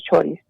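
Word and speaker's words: txori: este pajarito bueno allí le llaman choris se escribe con TX vale pero se pronuncia al parecer choris y bueno que es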